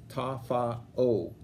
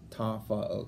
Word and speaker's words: Tafa'o: Mitty much improved under its new coach, the former MA coach, Sione Tafa'o. That's how it's pronounced. I asked last night. It's Tafa'o. Can you say that? Yeah, Tafa'o.